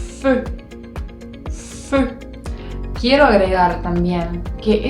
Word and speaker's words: feu: En francés, esa combinación de letras hacen el sonido E. E. Es muy parecido al sonido de la E, pero digamos que se apunta, se afina la punta de la boca y hace el sonido E. E. Practícalo. Te doy un ejemplo de una palabra, la palabra fuego, que se dice feu.